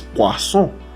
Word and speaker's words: poisson: Porque si fuera con una sola S, sería poison. Pero con dos S es poisson.